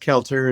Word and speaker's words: Cailteux: It's pronounced Kelter.